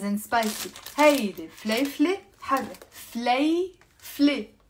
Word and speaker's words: فليفلة: هيدي فليفلة حرة فليفلة okay that's how you pronounce it two syllables فليفلة.